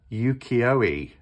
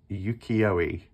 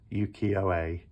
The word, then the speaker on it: Ukiyo-e: It's the Yukioi, that's how you pronounce it. But I was saying Yukio, but it's Yukioi, Yukioe, that's it. Sorry, the E, because it's Japanese, is pronounced like A. So Ukiyo-e Tarot and the Curious Creatures Tarot.